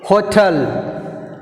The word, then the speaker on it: hotel: Next word hotel. Hotel. Hotel. Second syllable T. So T is second syllable. So we put a stress mark on T.